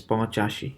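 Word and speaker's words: পঁচাশি: So notice that Po has a Chandra Bindi on top of it, right? So it's Ponchashi. You have to use your nasal cavity in order to pronounce this one.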